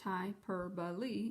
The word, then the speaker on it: hyperbole: member members majors we note that the hyperbole pronounced hyperbole is an exaggeration not meant to be taken